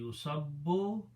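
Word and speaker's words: يُصَبُّ: So the pronunciation will be Yusabbu will be poured.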